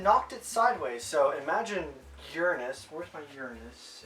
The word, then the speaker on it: Uranus: that at the end Uranus not Uranus haha Uranus is how it's actually pronounced it's the seventh closest planet to the